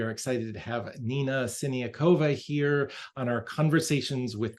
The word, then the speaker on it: Siniakova: pianist and educator Nina sakova welcome Nina hello how impressive you pronounced my name in the most correct way great job it's wonderful